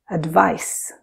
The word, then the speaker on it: advice: on the other hand pronounce it like the unvoiced s sound as in lice so we say advice so what do these